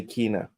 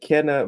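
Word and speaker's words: Kena: next we have Kenna I love how the Americans say Kina I love it uh Kenna bridge bridge of spirits coming to Xbox series Xbox One on August 15th it's Ken not not ka Kenna looks like Ka oh God Emy the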